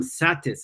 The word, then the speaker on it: satis: doing it as yam satis est which is a difference between a long a satura versus a short a satis satis means enough knowing